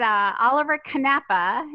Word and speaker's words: Oliver-Knappe: It is Oliver-Knappe. Is my husband is from Germany, so I try to say it Knappe.